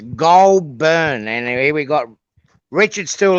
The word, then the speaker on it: Goulburn: uh we're reporting live from somewhere else it's pronounced golburn anyway we got Richard still here uh Richard